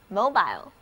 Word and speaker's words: mobile: 注意字母 O 和 I 都发它们的本音 O I mobile。